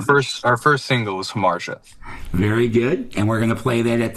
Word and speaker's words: Hamartia: And this band, your your first single, which I'm also going to have you pronounce, uh Harmar Harmartia. Thank you. So, our first our first single is Harmartia.